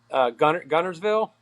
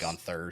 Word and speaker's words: Guntersville: How do you say Guntersville? Gunnersville. He's Gun- Hey, he gets it right. Bobby calls it Gunners? Gunther, so he Yeah. puts a TH on it.